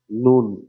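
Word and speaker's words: נון: மூன்ுல நூன் சொல்லுங்க okay சிலர் இத நன் அப்படின்னு ப்ரனௌன்ஸ் பண்ணுவாங்களாம் நன் நம்மளுக்கு அது வேண்டாம் தமிழே நம்மளுக்கு சரியா உச்சரிப்பு வரது இல்ல இதுல எபரேய பாஷை எங்க இல்ல நூன்லே நிறுத்திக்கலாம் என்ன சொல்லுங்க நூன் நூன்னா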